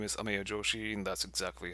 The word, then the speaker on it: Ameya Joshi: about myself so I get my name is Amaya Joshi and that's exactly how it's pronounced the way you see in the parentheses